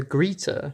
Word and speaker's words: Greta: think it's a it's a legitimate pronunciation in Germany German speaking places so that's just one